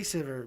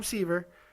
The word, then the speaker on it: Siver: siver i mean incredible i say sivir because he's german and my wife said that's how you pronounce his name i know they call him siever but my wife says sivir so i'm saying sivir she's german and she'll